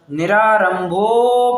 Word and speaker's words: निरारंभो: और निरारंभो परिग्रह मतलब वहां पर अवग्रह चिन्ह है, तो रंभो भो के ऊपर थोड़ा विशेष जोर देना है, ठीक है।